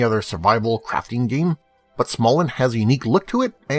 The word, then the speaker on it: Smalland: Although it may be tempting to pronounce it Smalland, the title is only one word and has only two L's. Therefore, it should be pronounced Smalland, like Holland.